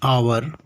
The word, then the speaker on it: hour: But an is also used for the words beginning with silent H and giving vowel sound. Look at the first example, an hour. Second, an honest.